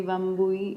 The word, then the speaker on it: Wambui: and Here I am Carolina where the lovely bambooee it is the correct pronunciation of your hecticness name perfect so we